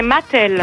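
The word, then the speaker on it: Matel: Moi, c'est Mathel. Bonjour Mathel, comme les jouets.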